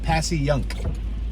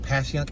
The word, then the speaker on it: Passyunk: It's pronounced Passyunk, but it depends on how you say it.